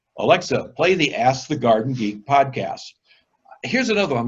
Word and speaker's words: Ask the Garden Geek: say, I don't know, Ask the Garden Gate. Make sure you say Ask the Garden Geek. So you go to Alexa and say, Alexa, play the Ask the Garden Geek podcast.